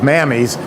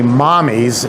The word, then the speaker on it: Mamis: Now this company, which is spelled M-A-M-I-S, which sounds like in the South, mammies, is actually mommies in Italian for mother.